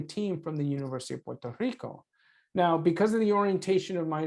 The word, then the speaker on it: Puerto Rico: And I want to remind people that it is Puerto Rico or Puerto Rico, not Puerto Rico. And as you can tell, I'm not shy about using the Spanish pronunciation, even when I'm speaking English.